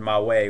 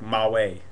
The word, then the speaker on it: mawe: And there's this Na'vi word, mawe, which means calm, and you hear that ow. Like, you don't really pronounce like a double. You don't go ow. It's like ow. Quick. Ma way. It's fast. And then EW is you,